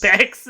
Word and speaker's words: Bex: It's like snake, but an X, so it rhymes. Bex the.